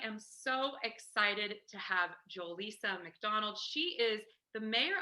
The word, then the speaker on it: Joelisa: Well, my name is Joelisa, pronounced Joelisa.